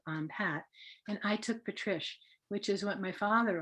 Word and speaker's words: Patrish: to pronounce it so i'll give you the tip patrice rhymes with delish so and even if